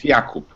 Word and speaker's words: Jakub: I'm from Poland, so if you want to pronunciate in Polish, it's Jakub.